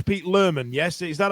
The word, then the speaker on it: Lohman: tune here together because we read it as Lohman, but the way in West Yorkshire they pronounce Lohman, they pronounce it Lerman, which is actually factually correct, right?